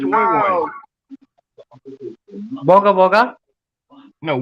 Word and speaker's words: Woy Woy: Yeah, I think it's Woy Woy. Oh, Wagga Wagga. No, Woy. W-O-Y. Oh, Woy It's a Woy. little north- Yeah, Woy Woy.